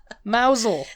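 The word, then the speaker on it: Mousehole: country down to Cornwall Ary down to Cornwall mousel mousel mous mousel yeah you got it yes it's m you get a character and you can do these things yes the mouse mousel that's how Hagrid would say it mous yeah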